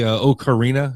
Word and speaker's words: Ocarina: The Legend of Zelda, the Ocarina, is that how you say it, of Time? I've never played that one. Ocarina of Time.